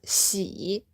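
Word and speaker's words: 喜: Now this character, we pronounce it as xi, so it's third tone.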